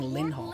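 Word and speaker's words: Linhardt: She's actually saying Linhard. Lynhart. You skip the war. The thing is if we're talking phonetically. Yeah. an N sound to a H sound isn't exactly the most easy thing. So there tends to be a glottle stop there.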